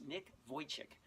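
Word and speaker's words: Vujicic: guy named Nick Wojcik his name it doesn't look like it doesn't spell the way it's pronounced but it's Nick Wojcik in a few YouTube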